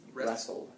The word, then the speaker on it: wrestle: right yep and rest wrestle wrestle wrestle yeah because that W is silent there so it's just a